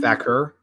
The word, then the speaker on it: Vaquer: Vaquer, I think is how it's pronounced.